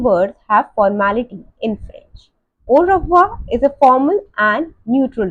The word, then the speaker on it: au revoir: Just read the English pronunciation and repeat with me. Au revoir. Again, au revoir.